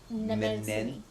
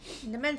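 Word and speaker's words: Mnemosyne: Nemensine. So the M is silent.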